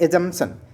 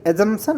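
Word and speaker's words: assumption: एजमशन माने नहीं एजंपशन of charge. एजंपशन एजमशन of charge. देखो इसमें पी साइलेंट होता है। A double S यू एम पी खा जाते हैं लोग बोलते हो लेकिन लिखना है एजमशन। ठीक है?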